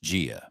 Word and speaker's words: 家: What does the character Jia, pronounced Jia, mean?